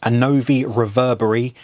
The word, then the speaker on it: Annovi Reverberi: So I have in front of me a Annovi Reverberi, that's how you say it, pump.